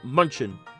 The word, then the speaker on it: Munchin: It's actually pronounced Munchin in this game.